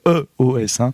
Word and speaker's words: /e/OS: vend des téléphones avec iOS dans le sens I à l'anglaise, entendons-nous EOS, donc ça s'écrit /E/OS.